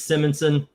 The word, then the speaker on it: Simonson: I At this point I'm I know it's Sim it's Simmonson.